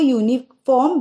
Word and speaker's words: uniform: The U in uniform is read as U. Therefore, uniform begins with a consonant sound and we say a uniform. We don't say it as an uniform because the pronunciation is as uniform, U.